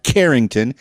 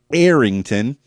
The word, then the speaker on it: Errington: It's not Carrington. It's not Harrington. It's Errington of Errington Music.